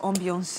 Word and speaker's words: ambiance: How would you pronounce ambience in French? C'est la même chose, ambiance. Ambiance.